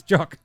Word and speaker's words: Jock: It's like, it's Jock.